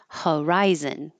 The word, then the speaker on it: horizon: the Y Q coupon Horizon we don't say h o r here as or and we don't say this o n as on it's h Zen or Zen but not o n horizon horizon to soar and this